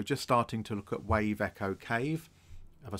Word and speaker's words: Wave Echo Cave: starting to look at Wave Echo Cave. Have I said that right? Yes, I have. Not Echo Wave Cave. I told you in the other video, I keep saying it wrong. Wave Echo Cave.